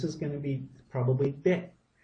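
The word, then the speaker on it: เด็ก: This is going to be probably deck. Now I've always said deck for child. This looks like it's dick, dick, dick.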